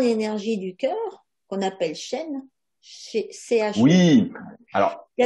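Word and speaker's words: shen: Et je dirais que l'entité énergétique qui se trouve au niveau du cœur, on l'appelle le chêne. Et comme tu l'as dit, effectivement, ça s'écrit Non, S-H-E-N et non pas comme l'arbre euh, ouais, chêne, encore que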